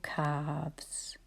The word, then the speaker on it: calves: that the L is written even though we don't hear it. And it's the same in halves or calves.